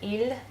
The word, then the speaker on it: il: going by sounds, because the sound il, in terms of singular, one masculine thing, one masculine person, sounds exactly the same as if I make it plural and talking about the boys, talking about the masculine objects.